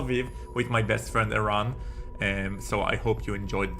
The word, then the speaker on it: Eran: Iram, say Iran. You spell it E-R-A-N.